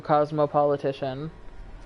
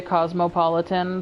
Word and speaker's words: Cosmopolitician: I changed my main Twitter to Cosmopolitician, which, by the way, is how you say my username. It doesn't bother me when people say cosmopolitan, but, like, it's cosmopolitician.